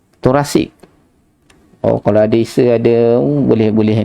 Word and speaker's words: thoracic: Kata apa sebutan dia yang betul, pronunciation dia yang betul, THORECIC, thoracic.